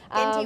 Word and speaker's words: Genti: Genti with a hard G. G sound.